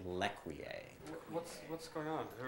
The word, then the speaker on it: L'Ecuyer: for seeing me and you're a olecki uh no it's it was yes it's that's pronounced lequier what's what's going on